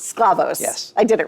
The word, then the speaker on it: Sklavos: Alex, how do you pronounce your last name? Scavos. Sclavos.